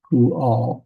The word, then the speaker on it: Pual: And so we got Pu, and so we have the U vowel and the kibbutz down here. And then we have the Al, Pual.